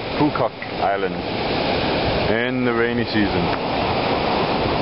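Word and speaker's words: Phú Quốc: Apparently you pronounce the PH really loud. Phu Quoc Island in the rainy season.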